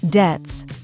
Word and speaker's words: debts: The plural form is debts, and the B is silent when you say it.